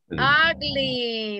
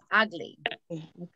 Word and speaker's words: ugly: Ugly. Very good. Ugly. Yeah, the pronunciation. Aunque tengamos una U, pero va a sonar como A. Ugly.